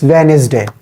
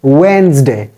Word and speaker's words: Wednesday: this we say it's venes day venes day it is not venes day it is Wednesday it is Wednesday we don't have to make the sound of e here because e is silent here it it should be